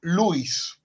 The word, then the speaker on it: Lewis: por otro filósofo analítico que es Luis se escribe Lewis ya David Lewis O si